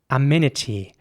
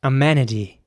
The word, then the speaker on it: amenity: would be pronounced amenity in american english it would be pronounced more like amenity with an ä sound in the middle so the e is